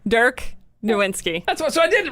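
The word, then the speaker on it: Nowitzki: dirk nowinski oh yes did i i never pronounced it right did i get it right you say his name dirk nowinski that's what so i didn't write okay very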